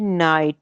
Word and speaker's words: knight: KNIGHT नाइट, शहजादे को कहते हैं, यहाँ पे भी के साइलेंट है, ठीक है।